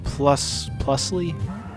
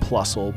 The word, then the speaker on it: Plusle: Oh yeah, Plusly? I think technically it's pronounced Plusle, but the thing about me is that I don't really give a shit, so...